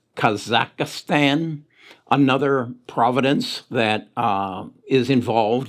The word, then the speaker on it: Kazakhstan: that i also read about i believe it's pronounced kazakhstan another providence that is involved in the current